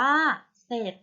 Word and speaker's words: เสร็จ: เป็น รอ เรือ ค่ะ ให้ ออก เสียง เฉพาะ พยัญชนะ ตัว หน้า นะ คะ เดี๋ยว ตัว อย่าง คำ เช่น คำ ว่า เสร็จ อ่าน ว่า เสร็จ จริง อ่าน ว่า จริง